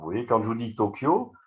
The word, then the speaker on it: Tokyo: Vous voyez, quand je vous dis Tokyo, c'est To-O-Kiyo. Vous voyez, il y a 4 morts, ils appellent ça des morts. Alors que là, on dirait, il y a 2 syllabes, Tokyo. Mais ça fait 4 sous-syllabes, Toho, Kiyo.